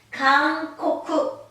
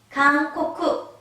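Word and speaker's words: かんこく: 이응 발음? 강코쿠, 강코쿠, 강코쿠.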